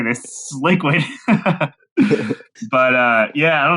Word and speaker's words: LiKuid: do you not know how to say this liquid but uh yeah I don't know it's kind